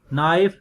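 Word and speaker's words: knife: KN initial अगर KN start में हो तो फिर K साइलेंट है, नाइट, नाइफ एंड नॉट.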